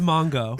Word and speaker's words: Mangu: It's pronounced Mongo.